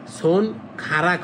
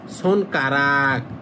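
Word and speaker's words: 손가락: আঙ্গুল মানে হাতের আঙ্গুল তাহলে সন খারাক হবে না হবে কারাক সন কারাক মানে হাতের আঙ্গুর এইযে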